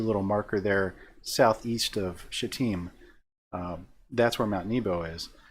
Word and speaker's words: Shittim: And they're in that area there called Shittim. And that is how you pronounce that.